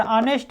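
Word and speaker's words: honest: देखिए option B जो दिया है ऑनेस्ट इसको बोलते हैं, यानी कि इसमें क्या है, एच साइलेंट होता है। यानी कि जिस प्रकार डाउट में बी साइलेंट था उसी प्रकार ऑनेस्ट में एच साइलेंट है,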